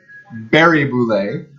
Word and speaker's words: Barré-Boulet: I'm going to assume this is pronounced Alex Barré-Boulet, like Wilkes-Barre Scranton.